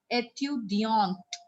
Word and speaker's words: étudiante: But when it will have E, we are going to pronounce it as étudiante, petite.